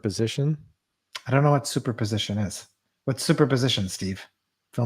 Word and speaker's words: superposition: I don't know what superposition is what superposition Steve fill me in do you think I'm saying it right yeah super position supposition no it's super it is super super as in Superman cool lyia Lydia says